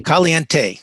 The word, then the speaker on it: caliente: it correctly for me caliente caliente leadership dot com so the kind of the last e is kind of an a well that's my pronunciation